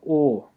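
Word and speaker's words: Ⲱ: like like a w is actually called or and it's a long oh oh okay it makes a pronunciation of a long o as in throw okay and the one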